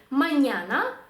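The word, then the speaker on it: mañana: в нас виходить Пронто наступний приклад маняна маняна маняна - це ранок або завтра і так само закінчується на голосну слово і ми ставимо наголос на попередній склад Луна луна та сама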